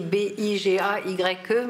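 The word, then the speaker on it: Bigaye: Voilà, donc Bigay, ça s'écrit B-I-G-A-Y-E, mais à l'oreille on entend Bigay.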